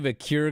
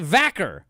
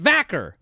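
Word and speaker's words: Vaquer: good thing remember when Stephanie viir got called up and they were like it's it's Stephanie vaker that's how she pronounces it vacer they got mad at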